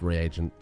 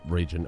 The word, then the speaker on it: reagent: potions and alchemy regions it's pronounced reagent not regen a region is someone who sits on a sits on a throne hello neuralian alchemy is